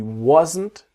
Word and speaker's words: wasn't: He wasn't gonna do the same thing as her. He wasn't gonna do. And then the T is silent.